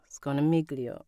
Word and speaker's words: Scognamiglio: Do we just not pronounce the G? I know. I'm asking everyone these questions. Carlo Sconamiglio. Sconamiglio. Sconamiglio. Sconamiglio. All right, guys. We're gonna fucking figure it out. Sconamiglio. The G is silent.